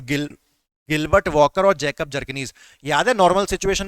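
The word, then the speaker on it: Bjerknes: Gilbert Walker के साथ-साथ Jacob जरकनी ठीक है बी साइलेंट है तो गिल गिलबर्ट वकर और जैकब जरकनी याद नर्मल सिचुएशन में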